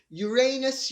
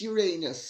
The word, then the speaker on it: Uranus: queen she deserves it uranus uranus says and incidentally that's the correct way of pronouncing it queen elizabeth was instrumental